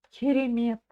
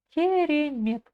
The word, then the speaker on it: керемет: заключительное на сегодня предложение керемет ке кере Мет керемет ударение на слог Мет на последний слог керемет Хан Дай Хан Дай